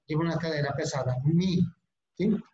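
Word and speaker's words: μ: la letra M griega, hay muchos que les gusta pronunciarla como mu, pero es mi.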